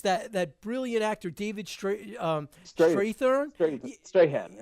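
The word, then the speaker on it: Strathairn: Strahan, right? Yeah. I can't pronounce his last name. He's Strathern, yeah, and they give him the dumbest like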